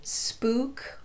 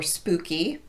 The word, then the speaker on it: spook: very commonly used words the most common exceptions that I can think of would be spook or spooky and Kook or kooky those are pronounced with the long u sound otherwise though you're simply